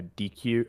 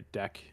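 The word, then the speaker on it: deque: like they'll just use a DQ or it's called a deck. DECK is like the pronunciation. Yeah, yeah. But I've never really seen anyone like use a stack over a deck, at least in modern C++.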